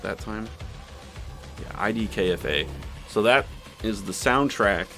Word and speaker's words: IDKFA: Yeah, IDKFA.